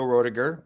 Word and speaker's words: Roediger: I I laugh because I was going to guess Roiger and then u he confirmed that's the right way to pronounce it and I I botched it up in the in the in the intro.